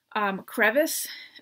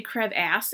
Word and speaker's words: crevice: Crevice, maybe it's, I know, in other countries people pronounce crevice differently, but this is not a narrator from another country. So he would say crevasse every time, so I'm like, it's not how you say it.